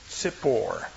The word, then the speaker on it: tzipor: The word in Hebrew for bird is tzipor, which basically means chirper.